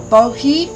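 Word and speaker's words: Boji: the sacred crystal is bogey stones i've never heard of that b o j i or bohe if you don't pronounce the j i have to look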